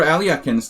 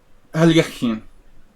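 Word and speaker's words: Alekhine: Alyakin. Alyakin. I should say it, try to pronounce it properly in Russian.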